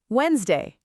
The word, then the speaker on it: Wednesday: Wednesday.